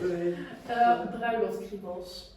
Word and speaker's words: Bruiloftkriebels: How do you pronounce it? Bruiloftkriebels.